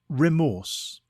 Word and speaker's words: remorse: Today's word is remorse. It is pronounced re-morse and is spelt R-E-M-O-R-S-E.